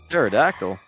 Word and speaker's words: pterodactyl: Pterodactyl. The P is silent.